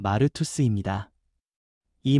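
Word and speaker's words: μάρτυς: 증인이라는 말은 헬라어 발음으로 마르투스입니다.이 말은 단순히 말로 설명하는 사람이 아니라 자기 삼전체로 예수님이 살아 계심을 보여주는 사람을 뜻합니다.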